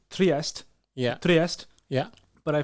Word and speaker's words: Trieste: I think it's actually pronounced Trieste.